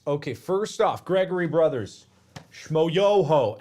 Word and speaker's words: Schmoyoho: first off gregory brothers schmoyoho accent on the yo they made this song